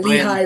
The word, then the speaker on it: Lehigh: I'm like Leigh. I'm like Lee, Lay. I don't know. Yeah, Ryan, Lehigh Valley, yeah, Lehigh Valley. like the college, Ryans Lehigh.